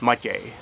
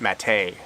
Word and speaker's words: Matěj: In Czech, it's pronounced Matěj. There's an accent on the E that softens the T sound, and the accent is on the first syllable, like all words are in Czech. When I came to Canada, I decided to pronounce it mate, with the accent on the second syllable. Kind of rhymes with pate.